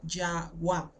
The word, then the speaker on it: Yahweh: Una yod, una hey, una waf, una hey que se pronuncia Yahweh, ¿sí?